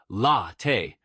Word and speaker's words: latte: For latte, stress the first syllable, latte.